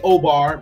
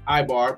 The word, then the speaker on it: Eber: This Hebrew is Ibar. People say Obar, but Ibar. People say a bunch of different pronunciations.